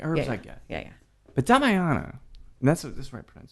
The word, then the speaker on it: Damiana: But Damiana, and that's the right pronunciation, right?